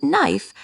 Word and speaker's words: knife: In English, sometimes certain letters are silent. In knife, the K is silent, so we only pronounce the N sound.